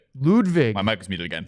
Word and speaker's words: Ludwig: by the way I said lwg lwig L ludvig my mic was muted again lvg yes we've had all sorts of mispronunciations what do you mean do you mean